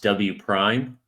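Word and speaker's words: W′: So we're talking about that, and then we're going to talk about W prime, which is, if you look in the literature, it's a W with like an apostrophe, but it's pronounced W prime.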